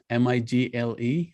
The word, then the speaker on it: Migle: And is it Migle, M-I-G-L-E?